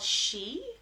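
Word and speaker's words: sidhe: and their homes were often called she which is spelled s-i-d-h-e if you've never seen it before referred to as she or the other world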